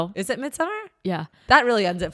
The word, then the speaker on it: Midsommar: Um Midsommar. Okay. That's how you say it. Interesting. Sounded like Midsommar. It said summer, yeah. Okay, well I guess I never have to say Midsomar again.